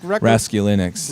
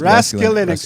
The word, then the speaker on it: Raskulinecz: Nick Raskulinecz. Raskulinecz.